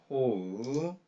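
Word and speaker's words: 方: 반말 과거에다가 이 한문을 호라고 발음합니다. 호우, 호우, 호후가 이 데스는 배웠죠.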